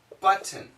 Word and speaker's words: button: are common but nouns for example button button perfect pronunciation button but with the glottal stop the stop but mmm